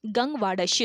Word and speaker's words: गंग वाडश्यु: अगला क्वेश्चन है, गंग वाडश्यु, इसका सही प्रोनाउंसिएशन है गंग वाडश्यु, इसको करेक्ट कर लीजिएगा।